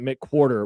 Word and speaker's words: McWerder: Okay, I'm not going to read this whole paragraph, but it starts with Dave McWerder and then it tells you how to pronounce it. Mick Quarter was 25 when he arrived at Edwall grade school to teach fifth and sixth grades.